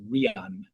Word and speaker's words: Ryan: In South Africa, it's pronounced Rian. So I know it is written as Ryan, but Rian.